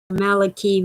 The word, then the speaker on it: Malachi: never heard about father maliki martin it's spelled like malachi but it's his name and he always pronounced it malaki he was irish he